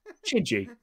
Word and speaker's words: Chedzoy: Chidgey, by the way, spelled Chedzoy. Chidgey. Spell it for me again. Chedzoy. Okay. And how's that pronounced? That's right, Chidgey, because 6 fingers.